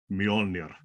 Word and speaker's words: Mjolnir: you have bestowed on me the honor of Mjolnir. Yes, great pronunciation.